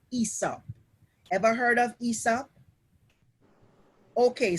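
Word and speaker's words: Aesop: the environment there was a great storyteller called esop ever heard of isa okay so his name is spelt a-e-s-o-p and for the big people who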